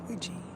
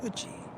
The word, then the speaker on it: Ouija: Like Ouija, when we know it's Uji. Everything about the name says Uji, but because of the